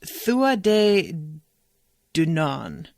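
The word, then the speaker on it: Tuatha Dé Danann: Devin says it's pronounced Thua de Dunan.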